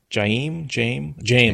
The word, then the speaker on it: Jame: How is it pronounced? Jame, I think is right. Single syllable.